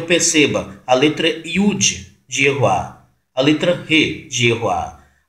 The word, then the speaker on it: Yehowah: Então, para você que está ouvindo o que eu estou dizendo agora, eu estou apresentando Yehoá, o nome do Criador, como sendo pronúncia correta, como sendo som correto, embora se de teus lábios sair Yehoá, eu também vou entender como Yehoá.